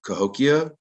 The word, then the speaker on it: Cahokia: And it was traded all the way up to Cahokia. I think I'm pronouncing that correctly.